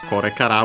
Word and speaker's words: kore kara: for a previous one, technically in this expression with kore is unaccented. Kara is accented on the last syllable, so the accent of kore kara will be the accent of kara, so on the last syllable. Of course, without adding anything else, you can't hear it, so it sounds like the same as if it were unaccented, but technically it's accented on the last smaller syllable, doesn't matter here.